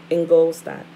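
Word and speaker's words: Ingolstadt: ignor gestate in bavaria it end goal stopped in gold stock i may have said that wrong it's spelled l i-n-g-o-l-s t a d t in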